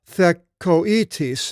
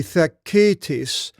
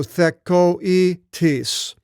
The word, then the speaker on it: Thekoitis: And now, normally, without this diaresis, the double dot, it would be Thekitis. But you separate the diphthong with the two vowels, omega and iota, and you pronounce each one because of this double dot. So Thekoitis.